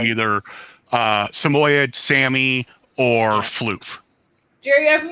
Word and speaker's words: Samoyed: name was oh actually proper pronunciation is samoyed hardly anybody calls them that most people call me either uh samoyed sammy or floof jerry